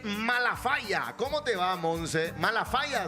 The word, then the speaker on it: Malafaya: Malafaya, se dice, así pronunciado bien. Malafaya es.